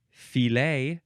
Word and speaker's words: filet: You can also pronounce it filet, fi, or f, or also filet. All those ways are great.